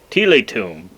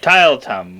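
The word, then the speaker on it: Tielt: Well, which apparently which used to be the name of a city in Belgium, but that is now Tilet, I think, is how Wikipedia told me to pronounce it.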